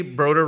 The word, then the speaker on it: Broder: Broder rhymes with voter.